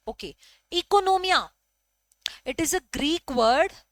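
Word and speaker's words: οἰκονομία: इकोनोमिया, यहां पर जो ओ है This O is silent. Okay. Economia.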